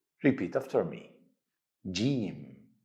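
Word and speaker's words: جيم: here in the hook Gene is easy to pronounce same as letter J in the English word Jam repeat after me Jim J now it's the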